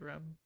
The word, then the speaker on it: Rem: Does I say it right, Rem?